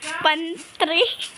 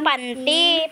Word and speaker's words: pantry: Pantry. Guys, pantry ha. Pantry kasi yun, hindi yung panty.